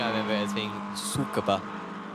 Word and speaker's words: Tsukuba: like, if you could have 60 cars at Tsukuba, and good luck avoiding 59 cars at I've Tsukuba.